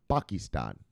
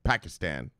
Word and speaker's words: Pakistan: mulling legal legal crypto framework pakistan it's actually pronounced pakistan all right well for you americans i'll just say your way pakistan and then finally oh yes and this is